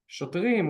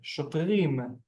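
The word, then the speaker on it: שוטרים: Shotrim, well done, sir. Shotrim. Shotrim. You can see the ending sound, the notorious eem sound when it's pluralized of the male form.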